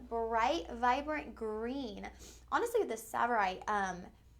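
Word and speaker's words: tsavorite: always butcher the name savorite right it's a silent te savorite you guys okay so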